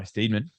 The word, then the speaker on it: Steedman: I'm pronouncing your surname correctly. Well, no, but no one does. It's Steedman. Oh, really?